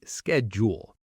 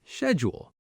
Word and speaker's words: schedule: American speakers often say schedule, while British speakers often say schedule. Both are correct, just regional differences.